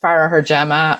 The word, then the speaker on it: Farragher-Gem: out but but yeah so it's pronounced pharah her gemma and people usually get